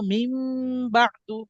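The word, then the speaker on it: مِنْ بَعْدِ: এই যে নুন সাকিন এই নুন সাকিনের উচ্চারণ নও হবে না আবার উম্ম হবে না এই নুন সাকিনটা হয়ে যাবে মিম সাকিন ঠিক আছে মিম হয়ে যাবে তাইলে এখানে মিম না পড়ে পড়বো মিম বাদু কি পড়বো মিম বাদু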